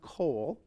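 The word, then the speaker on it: קול: And so the the word for voice which is pronounced coal.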